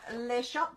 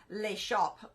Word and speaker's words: Les Shoppes: French and they said the pronunciation is actually Le shop so the S is silent and um I'm bringing